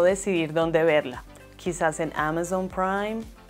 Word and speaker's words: Amazon: y amazon en español la letra zeta normalmente se pronuncia como una letra s pero en inglés no es así debemos pronunciarla como el sonido de una abeja y si te gustan